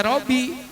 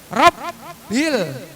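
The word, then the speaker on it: رَبِّ: Rabbi ada tasdid lagi tuh. Enggak boleh Robbi. Robbil enggak boleh. Rabbil. Tekan Rabbil alamin.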